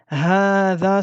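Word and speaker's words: هذا: Hada se prononce hada. Vous voyez ici, j'ai écrit le alif du med. Mais s'écrit hada. Donc ici, il y a une lettre prononcée qui ne s'écrit jamais.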